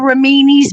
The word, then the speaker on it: Remini: It's spelled like her last name, which is Remini, but it was called Ramini's Bakery.